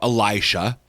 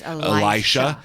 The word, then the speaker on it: Elisha: of Elijah the prophet I hear that sometimes I pronounced Alicia yeah I know is that different uh is that a different person or is that just a wrong person I think it's I used to say Alicia too I think I'm pretty